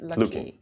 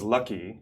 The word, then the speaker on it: Lucky: also your name is Lucky. Yeah. Spelled Lucky, but pronounced Luki.